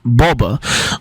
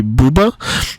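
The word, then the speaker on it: באָבע: But yes, the word for grandma in Yiddish is Boba, or I think Polish speakers might say buba, which also makes sense, and I think that's where you might get the American term bubba from.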